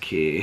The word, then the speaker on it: Quay: key sunglasses that spelled Quay but apparently they're pronounced key I think it came with those but these